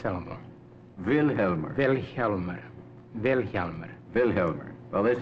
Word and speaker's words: Vilhjálmur: to pronounce your name velmer the accent on the first Sy velmer velmer velmer velmer well